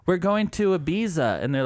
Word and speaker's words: Ibiza: like we're going to ibiza and they're like and they're like ibiza because the proper way to say it's with the lisp so hard to watch